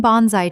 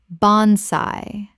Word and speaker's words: bonsai: He has cared for the same bonsai tree for over 20 years and considers it one of his most precious possessions. Repeat. bon-sai bon-sai Word 222.